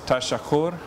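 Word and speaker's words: تشکر: In Dari, it's tashakur. Shakur.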